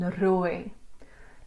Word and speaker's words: rooi: The lang oi in boy for mooi and rooi.